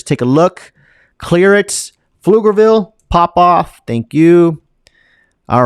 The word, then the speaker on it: Pflugerville: Pronounce it with me. Pflugerville.